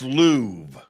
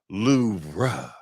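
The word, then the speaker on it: Louvre: Babel just announced the most mispronounced word of 2025 and it's Lou the museum. Babel says that the correct pronunciation is Loura with a very soft R.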